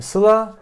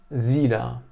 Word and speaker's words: Sıla: Yani evde çocuğun ismi Sıla, okulda, dışarıda, arkadaşlar arasında çocuğun ismi Zila.